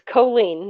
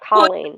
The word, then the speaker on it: Colleen: there's only one else so it's choline not colleen i wouldn't have ever